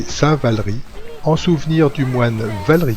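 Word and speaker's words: Saint-Valery: de repartir alors oui il faut prononcer saint-val riz en souvenir du moine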